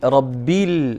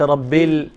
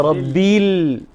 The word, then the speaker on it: رب العالمين: ربيل وليس ربيل، ليس ربيل وإنما رب العالمين.